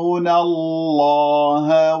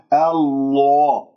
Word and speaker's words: الله: فانتبهوا يخادعون الله والذين الله، هنالك من ينطق يقول الله الله، هذه خطأ لأنه أنت لو تلاحظ أنه كلها مفتوحة، فأنت لماذا تقول الله الله؟ هذا خطأ. الله الله تدرب هكذا أمام المرآة.